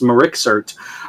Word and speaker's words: MRIXRT: a little channel called mri xrt uh pronounced marixert and uh you can